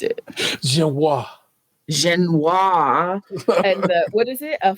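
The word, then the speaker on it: génoise: Nick Jude, don't be getting all British and saying Genoese.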